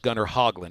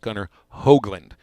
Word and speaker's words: Gunnar Hoglund: last name starts with Hogg but it isn't pronounced Gunnar Hoglund it's pronounced Gunnar Hoagland so maybe maybe if we all if we